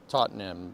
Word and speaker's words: Tottenham: Tottenham.